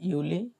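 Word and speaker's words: Juli: জুলাই যেটা, সেটা হচ্ছে ইউলি। কিন্তু এখন কি চলে, এখন তো ইউলি চলতেছে। হ্যাঁ, জুলাই না, ইউলি।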